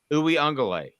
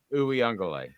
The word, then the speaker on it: Uiagalelei: Daniel says it's Uiagalelei. Uiagalelei. Actually, I think he's right. Is that better? Uiagalelei? Pretty sure that's how it's pronounced. Yeah, Uiagalelei.